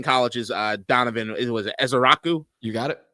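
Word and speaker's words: Ezeiruaku: Was it Ezaraku? You got it. Ezaraku. Yep. See, that's a name that's spelled uniquely, and for that, I have to say it uniquely.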